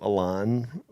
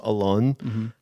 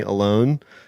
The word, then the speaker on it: Alon: I mean, I changed the pronunciation of my name to Alon versus Alon, because people would call me Alone, and it made me feel lonelier than I already felt.